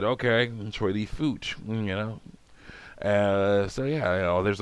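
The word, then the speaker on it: Choy Li Fut: I was like, actually, it's pronounced Choi Lee Foot.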